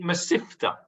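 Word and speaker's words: mesivta: Or if you want to put it in the Ashkenaz pronunciation, masifta.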